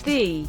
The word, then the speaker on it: ye: There's also no such thing as ye. It's thee, but spelled with an archaic letter that signifies the th sound.